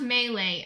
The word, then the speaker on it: melee: It's pronounced Melee. Oh, well, I say Melee because I think it's funny.